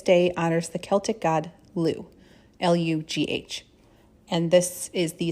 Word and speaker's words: Lugh: some traditions this day honors the celtic god liu l-u-g-h and this is the celebration of the